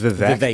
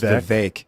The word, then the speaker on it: Vivek: I think Vivek is how it is pronounced. Vivek. I thought it was Vivek, but it's Vivek. Like Vivek. cake.